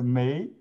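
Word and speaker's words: 没: pronounce the first letter may means no yeah may but in here the context we we pronounce this fourth tone the chinese has tones more instead of me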